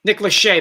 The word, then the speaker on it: Nick Lachey: pronounced Let's see here. Nick Lachey. Nick Lachey, that's right.